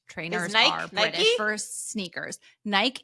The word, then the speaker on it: Nike: are British for sneakers Nike is Nike but it's how British people and some other Europeans pronounce it really and yes and to